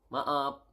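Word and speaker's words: maaf: need to say sorry sorry is m up Ma up up okay sorry is ma up Ma up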